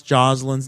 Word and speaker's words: Jocelyn: How do you pronounce Jocelyn's name? Just like that. Jocelyn.